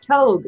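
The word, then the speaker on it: togue: a kind of lake trout no no it's pronounced toad apparently likely it's from Eastern Algonquin I'm just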